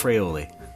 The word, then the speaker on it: Fraioli: And with me as always, rhymes with shallots aioli, Alex Fraioli.